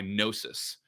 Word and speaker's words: Gnosis: And this is made by Gnosis, is the company. And it's everybody- - Let's spell that name just cause they're never gonna get it right.